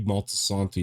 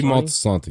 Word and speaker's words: Moltisanti: Dicky, however you pronounce his last name, I forget. Dicky Dicky Montesani. Moltisanti, yeah.